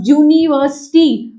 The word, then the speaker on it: यूनिवर्सिटी: According to the rule let me tell you बच्चे, इसकी जो साउंड है वो कॉन्सोनेंट की ही प्रोवाइडेड हो रही है, और वो कॉन्सोनेंट साउंड क्या है, it need to be pronounced as अ यूनिवर्सिटी।